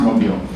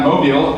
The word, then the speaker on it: Mobile: He even taught me how to pronounce Mobile. And he wants me to come down to Mobile and talk about what we're doing here with